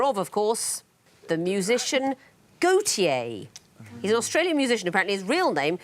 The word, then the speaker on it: Gotye: walter de becker but walter is gautier in french and he's called himself that but he doesn't spell it correctly he spells it g-o-t-y-e what's a convoluted set